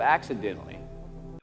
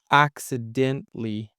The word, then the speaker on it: accidentally: Okay, the syllable stress is being stressed out here. So accidentally, not accidentally. Okay, so it's accidentally, Almost innocently.